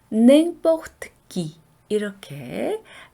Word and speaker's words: n'importe qui: 자, 여기에도 eng 부분이 비강 모음입니다. 자, 이 n이나 이 m은 전부 eng 발음 난다 그랬죠? 그래서 n'importe qui 이렇게 발음하시고요.